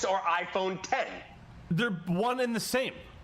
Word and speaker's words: iPhone X: iPhone 10 I fit my belief is that it is correctly pronounced iPhone 10 how know this how